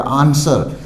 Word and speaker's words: answer: इसी तरह ANSWER, S के बाद W है तो यहाँ भी W साइलेंट हो जाएगा। आंसर, उत्तर या उत्तर देना, आंसर नहीं बोलना है, आंसर।